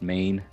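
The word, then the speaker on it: mægen: e g e n main looks like megan but it's pronounced main and it's you know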